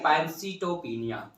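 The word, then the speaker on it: pancytopenia: अब तीनों ही अगर किसी स्थिति में डिक्रीज होते हुए दिखता है तो क्या होता है पैंसीटोपिनिया।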